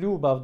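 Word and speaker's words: ljubav: Aynı şekilde lubav dediğimiz şey de aşk.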